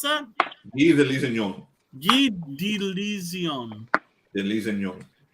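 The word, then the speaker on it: Guy de Lusignan: How do you pronounce that? Guy de Lisignon.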